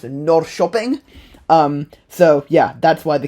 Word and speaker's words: Norrköping: Secondly, the K sometimes makes an SH sound, which I only realized after filming this. But like the city that's spelled Norrköping is pronounced Norrköping.